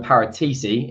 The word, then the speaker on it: Paratici: doroth director of football fabio paratici is how it's pronounced we're in a better